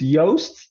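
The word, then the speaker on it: Joost: you pronounce his name it's yoast yo yeah the J is always yo it's like a y yeah yeah that's right yeah yeah and then the double O is O Okay um and uh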